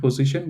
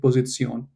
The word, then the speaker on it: Position: So it's an English word position, but in German we read it like Position.